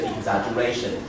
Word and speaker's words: exaggeration: Yeah.So here, number 8, this word on the second last syllable is exaggeration.